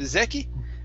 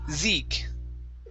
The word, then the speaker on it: Zeke: Okay, instead of Zeki, it's Zeke. Zeke.